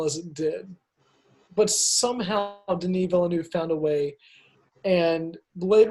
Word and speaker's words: Denis Villeneuve: Runner 2049 denis villeneuve or as many people have mispronounced his name Dennis Villanueva Denis Villeneuve somehow made a sequel